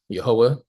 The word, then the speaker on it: Yehovah: So for the purposes of our Bible study, we pronounce the name of God as Yehovah, and many people around the world pronounce the name as Yahweh.